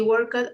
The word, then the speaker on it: worked: work work work work the final ed this final idi is has to be pronounced like a final t like okay okay he